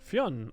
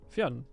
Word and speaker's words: Fionn: The story of Fionn McCool. Fionn. Okay, cool. Fionn. That is nice to know.